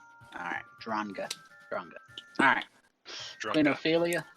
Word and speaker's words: Dronga: Is that Dronga? Is that how you were pronouncing it? Dronga. Alright, Dronga.